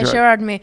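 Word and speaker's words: Gérardmer: How do you pronounce that? Gerardmer? Yeah, Gerardmer.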